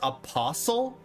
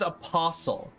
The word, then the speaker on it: apostle: It's pronounced apostle. No way. No way. You are. This is a troll. Apostle. No. Apostle. No fucking way. Apostle. What? Like whistle or listen? Hustle, jostle, apostle, bristle, thistle, or wrestle?